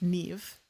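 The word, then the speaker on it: Niamh: Like I forgot like for example, there's see I think it was like Namh is pronounced Neve.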